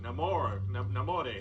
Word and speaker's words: Namor: I'm gonna pronounce it Namor. Okay, no, maybe there is a wrong way. Like a hungry little kid asking for seconds of his favorite dessert.